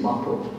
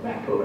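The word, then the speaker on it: mappō: The Japanese have a word for it, they call it in Japanese translation or pronunciation mappo, or mappo as we would say in English.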